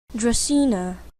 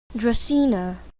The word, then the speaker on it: Dracaena: one of this so let's see what the pronunciation is for real Dracaena Dracaena okay according to that it's not even that